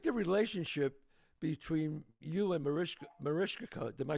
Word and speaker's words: Mariska: I think the relationship between you and Mariska, am I saying it right? Mariska, Rishka, yeah.